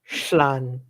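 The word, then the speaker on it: Llan: YouTuber I listened to, 2 L's is pronounced Schlan. Yeah, is he from Northern or Southern? I don't know. I learned in Southern Welsh, so. But it's like Schla or Schla, like this. So it's like Schlan wir Polgen go.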